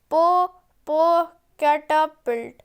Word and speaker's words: Popocatépetl: I know how to pronounce it, said Jane. It is Popocatépetl.